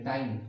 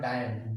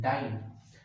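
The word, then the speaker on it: dyne: डाइन इसको आप pronounce करेंगे डाइन, नॉट डायन, डाइन।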